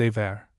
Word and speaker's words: Emer: Emer, wife of Cuchulainn, appears often in the sickbed. This name is by some pronounced Aver, probably from a different spelling.